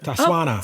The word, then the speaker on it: Tswana: And correct my pronunciation. Tswana. Yeah. Tswana.